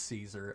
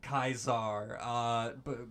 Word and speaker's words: Caesar: I knew it was Caesar. I knew I was supposed to say Julius Caesar. But I was like, Kaisar, big brain, 800 IQ. I played the funny RPG. I know how to say this.